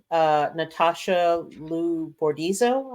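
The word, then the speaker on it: Natasha Liu Bordizzo: Natasha Lou Bordizzo, I believe is how her name is pronounced.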